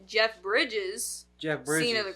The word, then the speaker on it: Bridges: Harvey kitel and Jeff Bridges keto Kito you said keto yeah she also said Jeff Briggs is it not Briggs pretty sure it's Bridges oh my God spell